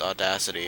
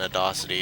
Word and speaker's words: Audacity: Oh, and I forgot to mention, apparently Audacity is pronounced Audacity, and I was torn between that and Audacity, and I just like saying Audacity more because it kind of sounds like Odyssey, and I would feel